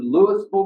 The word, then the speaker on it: Louisville: They'll move through Louisville, Mississippi. Now I got a secret for y'all. Folks in Kentucky say it wrong. It's not Louisville. It's Louisville, Mississippi.